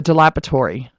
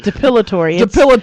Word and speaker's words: depilatory: No, Not dilapidatory is like it's a dilapidated building. What's a dilapidatory? Depilatory. There it is.